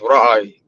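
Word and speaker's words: רעי: It's not even Roy, it's pronounced Ra'i.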